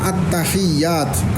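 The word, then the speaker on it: التحيات: Ya, pertama at-tahiyyat ala ta wal ya. Jadi maksudnya gini bacanya. At-tahiyyat. Jangan at-tahiyyatul mubarak, at-tahiyyatul kan enggak ada tasdidnya. Jadi ini harus ada tasdidnya.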